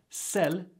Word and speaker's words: celles: By the way, CELLE is pronounced the same as CELLE since the S is silent.